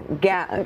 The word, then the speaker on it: Gal: Savannah and Samantha is like, it's easier to pronounce. I'm like, Gal. Gal.